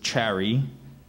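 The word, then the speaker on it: chary: there any alternate pronunciations so the first one that I've already given you is Cherry and I also have Cherry Cherry c h a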